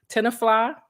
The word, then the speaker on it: Tenafly: Nyack and as physical education teacher in both Tenafly did I pronounce that right that's right and Rutherford New